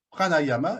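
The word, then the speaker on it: prāṇāyāma: Alors, le yoga du rire, ce sont des exercices de rire, des exercices de respiration pranayama et non pranayama. Là, j'ai inversé les syllabes, mais c'est pranayama.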